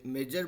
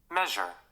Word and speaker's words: measure: Pronunciation होता है ना, हम लोग से मेजर बोलते हैं, मेजर, वहाँ पे थोड़ा सा इसका प्रोनाउंसिएशन में स वाला साउंड आता है उसमें, मेजर मतलब नहीं था।